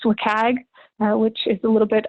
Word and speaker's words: WCAG: right is wcag and it's often pronounced wikag which is a little